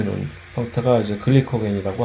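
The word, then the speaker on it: glycogen: 그렇게 저장해 놓은 녹말을 허탈하게 우리는 감자, 고구마, 쌀 하는 식으로 우리가 훔쳐가서 우리가 먹고 있는 것이고, 글라이코젠이라고 영어로 이제 발음을 하게 되는 글리코겐이라고 하는 것은 동물도 질소냐, 우리도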